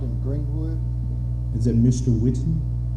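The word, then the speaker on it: Whitten: what's your name against her my last name is spelled w-h-i-t-t-e-n my first name is I reside in Greenwood is in Mr Whitton correct all right thank you so much for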